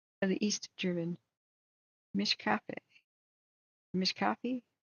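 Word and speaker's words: Mischkaffee: Mishkafi? How do you say that? Mish coffee.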